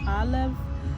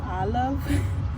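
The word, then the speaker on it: Aloave: unscented so the name Olive um it's spelled a l o a v e it's pronounced Olive it has the the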